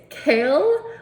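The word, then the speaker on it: Chaol: oh you're hate it it's Kale like the food and I was like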